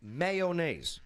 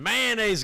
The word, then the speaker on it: mayonnaise: See, As in, mayonnaise going to be a lot of people there tomorrow. Mayonnaise. it's a classic one because you pronounce that with 3 syllables.